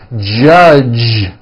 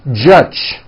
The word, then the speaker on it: judge: the word judge as judge turning that last sound into an unvoiced CH judge and that is not right the J sound in American English is always voiced judge like that for you